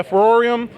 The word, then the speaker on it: FVROREM: to practice you know I'm safe so yeah for or iam go ahead and give them follow on or